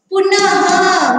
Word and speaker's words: पुनः: आहा जुड़ता है, यानी जब आहा हम प्रोनाउंस करते हैं तो अंत में यहाँ पे ह जुड़ता है, ह का उच्चारण होता है। वो वाले शब्द कौन से हैं? आप बोलोगे पुनः।